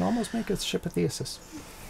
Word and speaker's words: Theseus: Yeah, so you can almost make a ship of Theosis. Theseus. It's not Theseus, because there's no U before the first S.